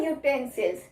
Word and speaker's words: utensil: But the sound of U here is Y, right?